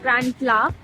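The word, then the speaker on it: Grand-Place: Okay, so we are a little away from the Grand Pla, which is spelled Grand, and PLAS, which is pronounced Grand Pla over here, which is Grand Place.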